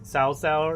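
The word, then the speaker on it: 曹操: Not Cao Cao, is it like I think Cao Cao, as I properly pronounce it. Us Americans called it cow for the longest time.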